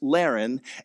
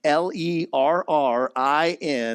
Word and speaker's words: Laren: I'm going to have to say it's Laren, Lerrin. No, it's not Darren, not Larry. It is Laren.